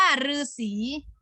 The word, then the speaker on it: ฤๅษี: ๆ นะ คะ อ่ะ ต่อ ไป คำ ว่า รือ นะ คะ รือ ที่ อ่าน ออก เสียง เป็น หรือ หา รือ ที่ อ่าน ออก เสียง เป็น หรือ ใหม่ เช่น คำ ว่า ฤาษี นา อนุศรี ฤาษี นะ